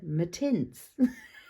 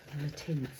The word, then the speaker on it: Mattints: And then Leandra, Mrs. Paperartsy, they're originally from New Zealand, and she said, no, they belong to me. They're Mattints. Yeah, so that is the definitive pronunciation from the person who came up with the idea of the Mattints. They are Mattints.